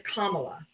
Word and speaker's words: Kamala: I'll unmute you in a second, but her name is Kamla. If you can't say her name properly, then you're gonna have say Harris.